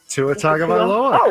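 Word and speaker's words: Tua Tagovailoa: It's like a Tavalia or Tua Tua Tagaloa.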